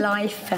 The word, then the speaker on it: life: Live avec live le V et ensuite life. Life. Parce qu'il y a le F, on va prononcer le I, comme exactement. Et je suis contente que tu touches un mot là-dessus parce qu'en fait.